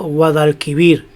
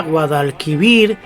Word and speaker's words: Guadalquivir: Pero la palabra Guadalquivir es una palabra aguda, porque la sílaba tónica está en vir, por lo tanto se aumenta una sílaba.